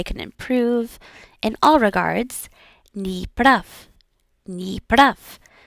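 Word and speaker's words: не прав: Ni prav. Ni prav. And again, the V sound at the end is almost going to turn into an F just because it is, I guess, more easy to say, and it doesn't matter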